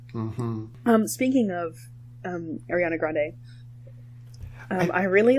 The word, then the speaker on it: Grande: reason that ariana grande I believe that's how you pronounce grande Grande okay I thought I thought I was like 50/50 on if I was gonna pronounce it that way or ignore the e I'm not very good